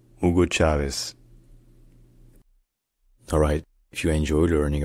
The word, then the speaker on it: Hugo Chávez: In Spanish, his name is pronounced Hugo Chávez. Hugo Chávez. Hugo Chávez. Hugo Chávez.